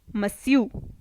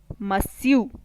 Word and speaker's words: Monsieur: person uses these titles mr in French is pronounced as Monsieur Monsieur madam or missus in French is pronounced as